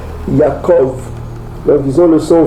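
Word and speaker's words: יעקב: Donc ici la prononciation en hébreu yiddish, le B se prononce V. Eux ils disent pas Abraham, ils disent Avram. Ok. Jacob, ils disent pas Jacob, ils disent Yaakov.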